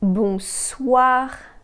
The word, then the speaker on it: bonsoir: The sound wa can be spelled with the letters O-I. The way you pronounce this sound is the same way as the word what in English, this wa sound.